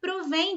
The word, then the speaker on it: provém: receber o acento tá elas são pronunciadas igualmente tanto no singular quanto no plural só que no singular